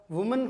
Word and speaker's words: विमन: transcription का एक topic होता है उसमें इनका उच्चारण पूछा जाता है तो ये क्या होता है वुमन होता है और ये क्या होता है विमन